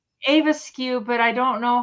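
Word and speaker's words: æbleskiver: Avaskew. Okay. Oh, is that how you spell it, Susan?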